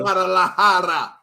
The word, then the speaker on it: Guadalajara: Guadalajara.